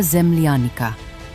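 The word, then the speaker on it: земляника: The final fruit is called Lesnaya zemlyanika, pronounced zemlyanika.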